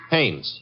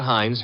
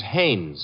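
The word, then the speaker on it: Haines: Hannes.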